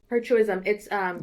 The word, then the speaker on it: hirsutism: So she said, how can I decrease HURITISM? I don't even know how to pronounce that. Hirsutism? Hirsutism.